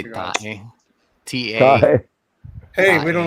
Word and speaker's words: tae: tae. T-A. Hi. Hey, we don't allow that kind of T-A-E. language. No, I'm just kidding. Clean it up. Tae is the word Scheisse, for merd.